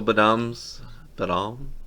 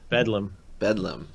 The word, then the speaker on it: Bedlam: Also, Badam, pronounce that for me. Bedlam. Not even close.